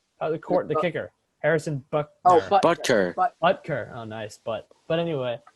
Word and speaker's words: Butker: Buckner? Buckner? The kicker. Harrison Buckner. Oh, Butker.